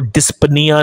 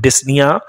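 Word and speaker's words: dyspnea: का मतलब होता है इसको dispenia नहीं पढ़ते disniyan पीस साइलेंट हो जाता है डिफिकल्टी इन ब्रीथिंग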